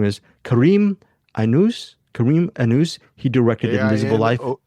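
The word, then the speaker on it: Aïnouz: It's a Brazilian director called, his name is Karim Anous. He directed Invisible Life. Ainouz.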